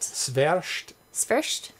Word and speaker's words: Świerszcz: Świerszcz. Yeah, because I put them into Google, and it tells me, here's a pronunciation of it, and it's actual people pronouncing it.